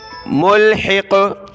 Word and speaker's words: ملحق: رکیں گے تو ملحق ملحق، ٹھیک ہے، ملحق قاف کو موٹا کیا، ملحق۔ یہاں تک یہ دعا